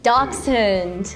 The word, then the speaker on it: Dachshund: It's similar. Dachshund, but you have more of like a dachs.